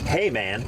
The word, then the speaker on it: Heymann: there it's all good I always say it wrong and I in my mind I'm like say it right say it right say it right it's spelled h e y m a an N hey man yeah so it makes sense that's that's how but in German the Y is an I sound so I these days